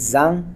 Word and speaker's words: Zhang: name last name is Zhang and most people pronounce but in China is done and it's very difficult for Americans to pronounce because it started with z okay not many words